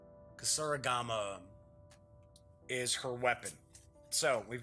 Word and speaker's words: kusarigama: Yeah, I can't even pronounce that. It's Kusarigama. Kusarigama.